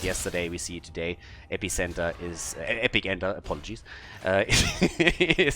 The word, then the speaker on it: Epic Enter: They call it Epicenter, which is obviously bullshit, because Nubarok wants to epically enter the backline, so Epic Enter is how you correctly pronounce that particular talent.